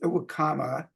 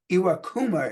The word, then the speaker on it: Iwakuma: by a Japanese pitcher that was by hasashi aama I iwakuma excuse me sorry hasashi for mispronouncing your name on my first try August